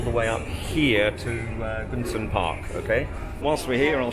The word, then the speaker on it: Gucun Park: I've been pronouncing it wrong, of course. It's Gucun Park.